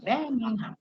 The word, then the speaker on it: Birmingham: Then it will tell you it is Birmingham. The G is silent. The G is silent. Birmingham.